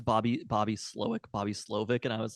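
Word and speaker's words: Slowik: it in the moment I have subsequently researched it is it is in fact Bobby slowick it's almost never names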